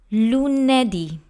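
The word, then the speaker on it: lunedì: let's move on to Luna D Luna D has three syllables Lu nay d that's Luna D and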